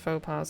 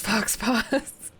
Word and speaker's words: faux pas: Mother-in-law pronounced faux pas as fox paws.